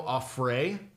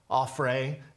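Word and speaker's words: Auffret: asked me about Theo afrae peace I'm sure I'm pronouncing that wrong a French name Teo offre a-u-f-f-r-e-t and asked about the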